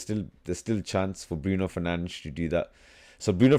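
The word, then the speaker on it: Bruno Fernandes: So, I need Bruno Fernanch. That's how you pronounce his name apparently. Not Bruno Fernandez.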